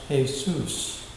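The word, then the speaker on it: Jesús: to be given the name Jesus pronounced Jesus with the accent on the last syllable now there is a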